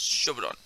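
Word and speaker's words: 初段: First rank uh, in Japanese terms is it's pronounced Shodan.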